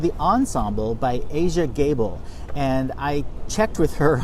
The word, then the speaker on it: Aja Gable: how to pronounce it it's Asia like the continent and gable as in Clark Gable that's the way she